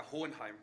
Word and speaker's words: Hohenheim: Almost, yeah, Hohenheim.